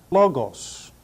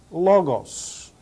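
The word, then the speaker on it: λόγος: Sigma Lambda Omron gamma Omicron Sigma it is pronounced logos logos logos the next word is the word for Christ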